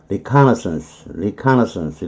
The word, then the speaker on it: reconnaissance: 칸에 강세가 들어가고 너슨스 이분은 별 볼일 없는 것 스페링만 길지 너슨스 이건 아무것도 아니고요. 앞에 것만 발음이 중요한 거. reconnaissance 이렇게 발음하는 거고 transcription은 이것도 뭐 가로질러 갖고 스크립트 쓰는 거죠.